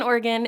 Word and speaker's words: Oregon: No, that's the correct pronunciation. No, he lives in Oregon, and I'm here in LA, and we Skype every week, and he's the comic book guru.